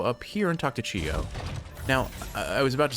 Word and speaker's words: Chiyo: All right, let's go say hi to Chiyo. Actually, I've been pronouncing his name Chiyu this whole time, but wait a minute.